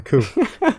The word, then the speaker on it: coup: A coup. You don't pronounce the P.